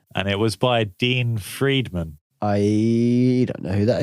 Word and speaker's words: Friedman: What I found funny, though, is that Dean Friedman is spelled, and he did this song about loving a McDonald's girl.